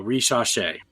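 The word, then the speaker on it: Risacher: Zachary Rasheer. Right? No, Reshapes. Reshapes.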